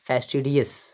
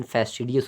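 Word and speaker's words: fastidious: ही हुआ, वो है फेस्टिडियस। वेरी गुड वर्ड, फेस्टिडियस पढ़ेंगे इसको। और ध्यान रहे, इसका प्रोनाउंसिएशन फेस्टिडियस होगा, आप फास्टिडियस मत पढ़ना।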